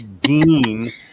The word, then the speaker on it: Gein: It's Ed Gein, which I've been mispronouncing for 40 years.